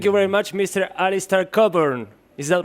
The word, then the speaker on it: Cockburn: name because it's not cockburn it's coburn and nobody would know that if i didn't yeah the ck is not pronounced it's a scottish name it's from scotland and